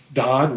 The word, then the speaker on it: Dodd: Dodd who is God Dodd rhymes with God did you notice that